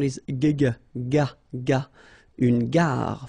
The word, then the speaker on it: gare: Une gare, final E not pronounced, une gare.